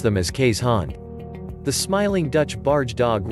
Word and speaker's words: Keeshond: hand means dog in dutch and together we pronounce them as kay's han the smiling dutch barge dog rode on small